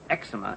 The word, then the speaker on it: eczema: I never know it's eczema or eczema. How do you say it? I say it this way. Eczema? I'm sorry. What? If you want to know the correct pronunciation, you know where to come, don't you? What is it, Mr. Ballantyne? I think you will find eczema is preferred by dermatologists, and it refers to